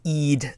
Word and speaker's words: Eid: people understand it uh for the pronunciation of Eid that's Eid and uh it would